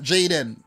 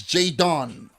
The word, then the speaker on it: Jadon: with jay don sancho you gotta take your time and say his name not jayden the boy name is jay don okay jadon so in